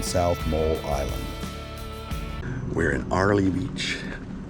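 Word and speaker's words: Airlie Beach: Sandy Bay on South mole Island we're in Arley Beach it's spelled earlyy Beach Arley Beach Queensland Australia uh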